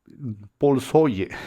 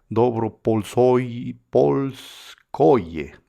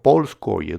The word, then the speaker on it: Polskoye: Polsoye, discúlpenme la pronunciación, Polskoye, no, Polskoye, Dobropolskoye e Ivanovka.